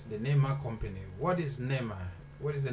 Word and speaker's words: Neema: nema no name nema so i'm right it's nema so what is nema the name is from